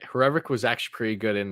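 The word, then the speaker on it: Hrivík: was the frog because when you pronounce his last name it almost sounds like what a frog sounds like rivet yeah yeah that's a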